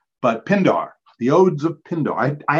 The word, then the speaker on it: Pindar: Pindor or Pindare. Pindar. Okay, so I would have gotten it wrong P-I-N-D-A-R.